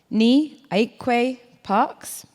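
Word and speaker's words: Nii Ayikwei Parkes: I think I've met you all before by now, so I am joined now by Ni Aikwe Parks, correct pronunciation, who is a Ghanaian writer, editor, socio-cultural commentator, and performance poet, amongst other things.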